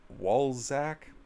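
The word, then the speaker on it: Walczak: according to calculations from jared walzak rhymes with balsack of the tax foundation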